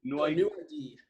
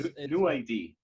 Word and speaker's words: NuID: What is the perfect way to pronounce the name of your startup? NuID is NuID. Yep. Okay. Yeah, it's a beautiful, simple name. I love the font of it as well. It's like NuID.